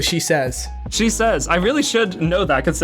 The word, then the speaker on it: Shesez: Am I pronouncing your name right? It's actually Shesez.